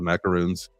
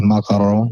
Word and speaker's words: macaron: The macaroons, the macaron, I believe. Did I get it there? Yes. A macaron.